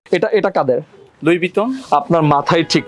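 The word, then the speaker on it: Louis Vuitton: আপনার মাথায় ঠিক না এটা লেখা আছে এল ও ইউ আই এস লুইস ভুইটন হবে এটা হচ্ছে একজনের নাম যখন হচ্ছে আপনি একসাথে বলবেন তখন হচ্ছে লুই বিটনেই বলে তাহলে আমি যে এতদিন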